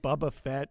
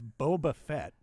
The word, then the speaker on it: Boba Fett: was it's the same will you stop saying Bubba Fett it's Boba Fett fine Boba Fett thank